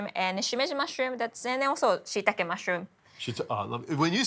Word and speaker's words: shiitake: When you say shiitake, it just sounds so more authentic. I say shiitake, but how do you say it again? Shiitake. Shiitake. It's got an E on the end.